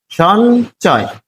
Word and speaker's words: সঞ্চয়: তাহলে সঞ্চয়, ম এর পরিবর্তে ইয়, সঞ্চয়। এখানে ইয় এর উচ্চারণ দন্তন্য এর মতো। এটি ইয় এর উচ্চারণের যে নিয়ম রয়েছে সেখানে কিন্তু আছে যে ইয় মাঝখানে থাকলে কি উচ্চারণ হবে? নয়ের মতো উচ্চারণ হবে, সঞ্চয়।